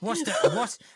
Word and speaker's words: Worcester: Worcester. What? Worcester. You're missing like 12 letters.